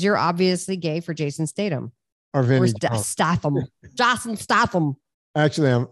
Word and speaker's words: Statham: vinnie jones i know isn't it pronounced datum is it no statham like how you say chatham no stay them all